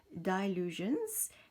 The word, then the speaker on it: Dylusions: Celui-ci, c'est donc du marque Dylusions et de Diane Reilly, si je le prononce en anglais, Dylusions, and it's by Diane Reilly.